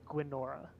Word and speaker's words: Gwynora: I thought it was gonora yeah I thought it was saying it right I think like Guinevere but instead of Veer it's Nora so gwynora thank you I just